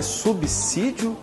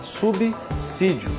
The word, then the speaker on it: subsídio: nenhuma E por quê Porque o s só pode ter som de z quando ele está entre duas vogais é o caso por exemplo que acontece com a palavra casa que está grafada aqui você percebe que o s está entre duas vogais por isso com o som de z então a palavra é subsídio e não subsídio se você tiver alguma